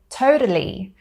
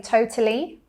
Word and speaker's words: totally: pronounce it like me they would say it more with a tap t sound so they would say totally so there you hear that tap T i say totally or with a glottal